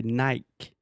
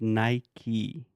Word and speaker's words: Nike: Nike no Mike okay so this is something that I just cannot like is obviously phonetically Brazilian should say Nikkei Nikki but for some reason Brazilians decided to say naik but in English its Nike Nike Nike yes okay Nike I